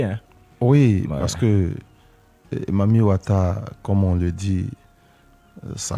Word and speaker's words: Mami Wata: Et au départ, ça a commencé par Memi Water, c'est-à-dire que la mer des eaux. Et donc, chez nous en Afrique, la prononciation est ghanéenne ou nigérienne où il y a des abrégés, donc ils ont abrégé, on dit Mami Wata, parce que chez eux, pour dire l'eau, au lieu de water, ils disent Wata.